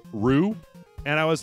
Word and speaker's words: Ryu: right so and so then I started saying Ryu all the time then people like R and then somebody came in and they were like it's actually pronounced Rue and I was like okay now go [